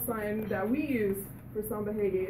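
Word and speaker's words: samba-reggae: And in Brazil, you pronounce R's like H's, so that's why I say samba reggae.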